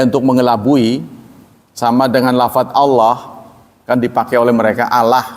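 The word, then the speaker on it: الله: Wah sudah jelas lam fatah lah jadi o. Ah anda belum belajar tajwid. Ya, benar. Enggak lam fatah kan la kan Allah itu la ee apa lam fatah itu. Kenapa jadi o itu namanya tafkhim?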